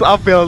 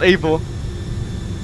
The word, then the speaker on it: Abel: Finally, someone pronounces my name correctly. It's Abel, not Abel.